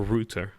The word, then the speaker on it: Rutter: pressing players, even Jorginho Rutter or Rutter as it's pronounced correctly, he's very much pressing